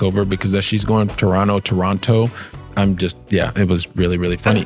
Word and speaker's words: Toronto: Except if you're Canadian, you say Toronto, and if you're not, you say Toronto. And you always know the difference if they pronounce that second T.